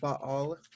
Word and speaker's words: Baal: Kind of like Baal. Baal, which we just call Baal. I mean, when you say Baal, you're technically pronouncing both of them, not to be nerdy linguistically speaking.